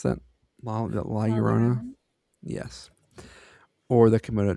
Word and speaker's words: La Llorona: Lalarona. Can you pronounce that? La Llorona.